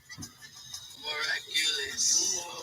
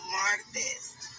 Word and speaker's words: martes: Miraculous. No. Martes.